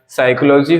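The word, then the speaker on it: psychology: जरूरी है साम हो गया न्यूमेटिक्स हो गया साइकोलॉजी हो गया साइकोलॉजिस्ट हो गया इसमें सभी एग्जांपल्स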